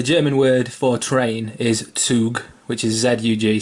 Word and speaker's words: Zug: Interestingly on that, Mighty Zug, the German word for train is Zug, which is Z-U-G, spelled exactly the same. I think a Z in German is pronounced like TS.